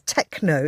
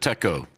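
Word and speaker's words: Techo: airport in Cambodia, which I initially misread as Techno International Airport. Uh, how do you actually pronounce it? Uh, I pronounce it Techco.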